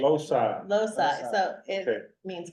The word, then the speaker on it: Loci: We have, Loki Architecture, is that correct? Loci, Loci? yeah. I want to pronounce it Loki.